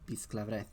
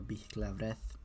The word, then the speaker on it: bisclavret: Or bisclavret. People pronounce it differently. Bisclavret. Bisclavret. It has a lot of different pronunciations, depending on what era of French and what dialect of that era you're going for.